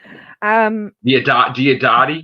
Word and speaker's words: Diodati: Diodati? Diadotia or something. It's Diodatia.